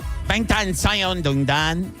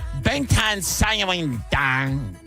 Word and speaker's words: 방탄소년단: It's 방탄소년단, which translates to us Americans as Bulletproof Boy Scouts. Oh, and it's in Korean. How do you say it again? 방탄소년단.